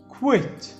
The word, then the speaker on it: quit: الQU بيتنطقوا أو بيعملوا الصوت اللي اسمه كوا and of course IT بيعملوا صوت it، تبقى على بعض quit quit.